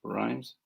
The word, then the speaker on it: Rhames: He was it Rhymes or Rames? Rhymes.